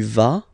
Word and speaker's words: vas: Basically you pronounce it like for the tu because you don't pronounce the final S, okay, il va, elle va, okay, je vais, tu vas, il va, elle va.